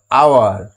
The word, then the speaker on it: hour: যেমন ধরো এইটা কি, HOUR, আওয়ার। এটা এইচের উচ্চারণটা হচ্ছে না, আওয়ার উচ্চারণ হচ্ছে, তার জন্য এখানে অ্যান বসে।